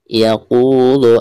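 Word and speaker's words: يقول: Baik, selanjutnya yaqulu ahlaktu malan lubada. Yaqu ada harkat domah qaf lalu berhadapan dengan waw sukun maka dihukumi mad tabi'i ya. Cara membacanya 2 harokat.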